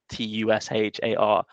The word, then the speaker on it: Tushar: like for his names t-u-s-h-a-r but we'd all call them Tushar you know you just typically put more pronunciation on the first bit sorry I got along